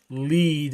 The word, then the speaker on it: Lead: It actually is lead as in lead, like lead lead the wave.